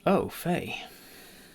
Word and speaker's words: au fait: nine of season four oh Faye pronounced oh Faye you see the double